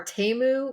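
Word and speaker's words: Temu: about right now are TAMU which I mispronounced as teu for a long time and then T I thought it was teu and Sheen which looks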